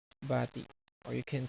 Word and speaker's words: bati: Or you can say this and there's a birthday, maligayang bati. Or best wishes, maligayang bati. Maligayang, maligayang, maligayang. The accent is here, maligayang. And bati, not bati. It's bati.